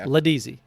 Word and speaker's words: Laudisi: So to me, it always looks like Laudisi, but Laudisi is the correct pronunciation.